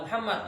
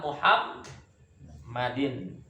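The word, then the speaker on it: محمد: Ala Muhammadin. Ya. Ala Muhammadin. Mimnya yang bertasdid. Jangan Muhammad, tapi Muhammad. Ya, salam. Bukan Muhammad, tapi Muhammad. Paham?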